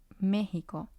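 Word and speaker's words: México: already saw mexico at the beginning and it's mexico and it has three syllables it has ko since this word ends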